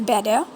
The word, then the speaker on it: Bedeh: of the word bidet some people call it b day but the real english pronunciation is better better as the real pronunciation of this and this word so